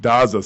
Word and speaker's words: Daza: We are blessed here at the show today to have Daza. Is that how you say it? That's correct. Daza.